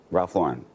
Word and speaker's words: Ralph Lauren: but in terms of how you say it it's Ralph Lauren Ralph Lauren Laur let's just say